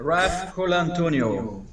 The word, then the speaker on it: Raf Colantonio: Raf Colantonio.